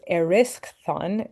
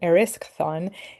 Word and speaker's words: Erysichthon: Let me tell you about this kid and his name is pronounced Erysichthon Erysichthon.